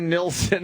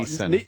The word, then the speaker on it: Neeson: Neeson. Neeson, right? Liam Oh my God, Neeson. I forgot. The L is silent. There's no L at all.